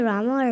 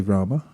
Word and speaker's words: Rama: matter if you say Rama or RAM does it matter well everything matters and there are there is a syllable at the end so it's it's best to say Rama but if on occasion